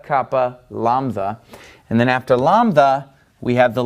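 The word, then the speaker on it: λάμδα: in English yota Kappa lanza and then after lambda we have the letter me me now me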